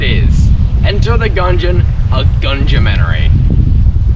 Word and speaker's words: Gunumentary: Enter the Gungeon, a Gungeonary. Yes, it's pronounced like that.